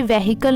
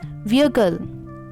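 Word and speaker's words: vehicle: data data on मैं इसे वेहिकल नहीं बोलते इट्स विकल विकल विकल कि इस कंफर्टेबल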